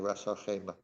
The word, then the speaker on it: Ras Al Khaimah: I mean, I've been asked to do something in this city north in the UAE called Ras Al Khaimah. Khaimah. I have to pronounce it correctly, Ras Al Khaimah, and Dubai, maybe Dubai as well.